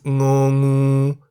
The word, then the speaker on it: ง: The Thai consonant ng sounds like the ng in the middle of the word singing or ringing at the beginning and end of a syllable.